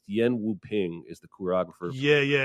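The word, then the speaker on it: Yuen Woo-ping: want to correct myself i threw out a sloppy americanized pronunciation but it's yen wu ping is the choreographer yeah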